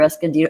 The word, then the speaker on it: Escondido: sure justice oh you're near Escondido I'm near Escondido you said it right last time you know